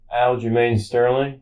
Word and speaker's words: Aljamain Sterling: But the next big event going at the Garden is technically the UFC fight in August, which is Sean O'Malley versus Aljamain Sterling.